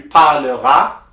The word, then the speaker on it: parleras: For tu, the S is silent, and il, elle, they already have an A, there is nothing in there, so that's the only sound that you need to pronounce. So you say, tu parleras, il parlera, elle parlera.